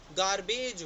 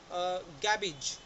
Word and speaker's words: garbage: इसको हम गार्बेज बोलते हैं, गार्बेज, राइट। जबकि इसका प्रॉपर प्रोनाउंसिएशन है गैबेज, GABIJ, गैबेज। Fourth is CLOTH।